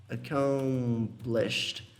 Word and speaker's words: accomplished: Accomplished, que significa concluído, tá? Olha a pronúncia. Accomplished. É como se você falasse o accomplish, normal, com um Tzinho aqui, ó.